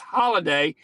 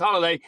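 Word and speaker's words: Holadia: going to change it it's spelled h o l a d i a it's pronounced holiday h o l a d a pronounced holiday Ola Dia hello day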